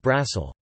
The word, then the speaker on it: Brussel: In French, Bruxelles is pronounced Bizzle, the X is pronounced, like in English, and in Dutch, Brussels is pronounced Brassel.